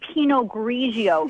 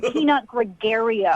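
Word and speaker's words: Pinot Grigio: You don't even know how to say penog grigio. It's not peanut gregario.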